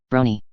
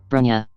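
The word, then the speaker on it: Bronya: in that new world brony erm brony something doesn't sound right i'm not pronouncing her name like the way alexandra pronounced it then is it bronia or brunia yes bronia that sounds more like it but brony does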